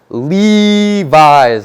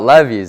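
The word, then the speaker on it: Levi's: up and be like it's Levis not levies it's Levis you said it wrong you pronounced it wrong you said it wrong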